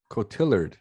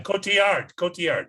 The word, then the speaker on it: Cotillard: It's Marion Cotillard. Yeah, Cotillard. Yeah. Cotillard, is that how you say it? Yeah, she's Yeah. French.